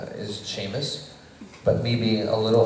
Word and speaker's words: Seamus: you don't look like you spell it spelled with the S EA it's Sheamus just spelled that way uh but uh I